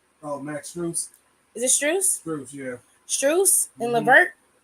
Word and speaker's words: Strus: Is it Strus?